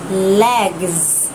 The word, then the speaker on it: legs: Hai cái cẳng chân sẽ là legs. Legs. Thêm s vào nha, và trong phiên âm nó là z sung.